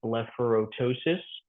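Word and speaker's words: blepharoptosis: Another example with the P here is blepharotosis. So again, we ignore that P that's in the middle there.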